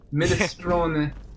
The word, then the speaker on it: minestrone: Minestrone.